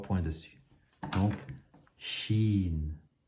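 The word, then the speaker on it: ش: Donc, shin. Ces deux lettres, elles sont faciles à prononcer. C'est le S qu'on connaît en français et le CH, comme le chat.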